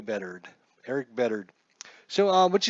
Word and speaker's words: Bedard: in pitching today is Erik Bedard Bedard Erik Bedard probably bettered Erik Bedard so on